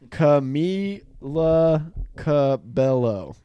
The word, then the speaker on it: Camila Cabello: want me to pronounce this pronounce cami la cabello so it is mila cabello so i've kind